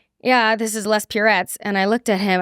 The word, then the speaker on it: Puretz: So then I was that's why I'm saying it's Purettes like Purel so that no one ever says it rhymes with Tourette's anymore.